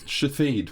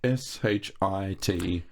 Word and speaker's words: Shithead: Shathid, which is spelled S-H-I-T-H-E-A-D. It's a foreign name. Shathid. Shithead. Yeah, it's not shithead. an English name. That's shithead. Yeah, but it's not an English name. It's Shathid in other languages.